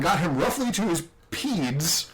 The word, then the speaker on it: pedes: him roughly to his peds. I'm going to guess is how you pronounce that. It's P-E-D-E-S. Like pedestrian, right? Okay, all right. Or centipede.